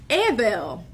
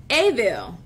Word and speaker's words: evel: That iniquity is a word called Evel. Evel. Almost sounds like evil. It's spelled E-V-E-L in Hebrew. Evel. Evel. Evel, like think of E-H-V-E-L, Evel, right?